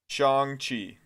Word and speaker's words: Shang-Chi: It's Shang like long and then Chi. You got it half right already. Shang-Chi.